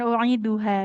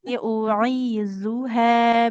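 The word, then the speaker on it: أُعِيذُهَا: Bukan u'iduha ya, ini huruf zal. Wa inni u'izuha bika wa zurriyataha.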